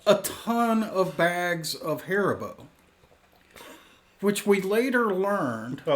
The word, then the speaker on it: Haribo: so what's up I'm the Haribo guy is how you say it Haribo Haribo Keith Dustin bourbon